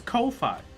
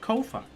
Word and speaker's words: Ko-fi: From their own Twitter, the answer is Kofi. Rhymes with Kofi.